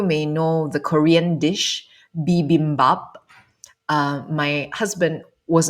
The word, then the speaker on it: bibimbap: know the Korean dish bibimbap. My husband was not able to pronounce it properly, and he would always say bibibimbap instead of bibimbap. He would add an additional B.